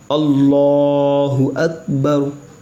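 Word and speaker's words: اللہ اکبر: अल्लाहु अकबर। ठीक है, अब अगर आप हिज्जे करना चाहते हो तो आप सुन लीजिए,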